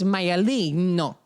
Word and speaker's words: Maialino: And then someone inevitably is like, it's Maialino. And you're like, okay, but